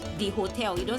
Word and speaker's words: hôtel: What you say is l'hôpital, l'hôtel, because H is seen as a vowel, and H is usually silent in French. That is why you don't say hotel. You don't say hotel. You say hotel. So basically your pronunciation is beginning from the O.